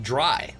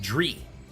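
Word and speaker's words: Drei: Well, Cyber Dragon 3 was Cyber Dragon Dry, and people pronounced it Dree. German is always fun seeing people pronounce wrong.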